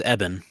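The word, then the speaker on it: Ebon: So it's Eben. Eben? Yeah, it's not. It's. Okay. I thought it was Iban too, but yeah, it's Eben. Eben Mas Bakrak.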